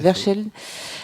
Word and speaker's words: Verscheld: Vincent Verscheld, je l'ai bien prononcé? Tout à fait. Verscheld.